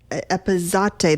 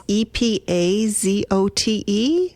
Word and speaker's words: epazote: So I want to pronounce it right. Epazote. That's Epazote.